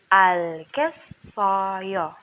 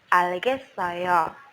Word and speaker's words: 알겠어요: 네, 알겠어요. Jangan lupa ketika EO ada bunyi EO di situ untuk pronunciation-nya kita bacanya huruf bunyi O. 네, 알겠어요.